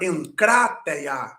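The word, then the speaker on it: ἐγκράτεια: também os dois Gamas o primeiro foi traduzido ou transliterado como n por exemplo na palavra en catea encate que é autocontrole temperança controlar-se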